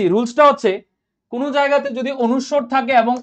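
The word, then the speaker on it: অনুস্বার: বলো এটার উচ্চারণ কি বলো সবাই দেখি এটার উচ্চারণ কি অবশ্যই এখানে বলবে অনেকে অনেস্কার অনেকে বলবে এটা অনুষ্কার ঠিক আছে এটাকে অনেকে বলবে অনেস্কার অনুষ্কার ঠিক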